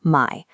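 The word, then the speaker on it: ไม่: When you speak it with a falling tone, starting high and dropping, it translates directly to no or not. Watch the monitor as we shift that exact same syllable to a high flat pitch. The definition instantly flips. You are now saying the word new.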